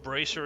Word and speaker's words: Bracer: So, um, if you're wondering what means and why I'm pronouncing it in French, it's because it's a French word.